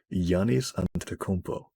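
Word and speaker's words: Giannis Antetokounmpo: the basketball player oh I wrote down the pronunciation of his name Yannis antetokumpo oh yeah he was he's a like I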